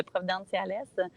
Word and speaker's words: Providenciales: Puis tu prononces bien aussi, dans la ville de Providenciales.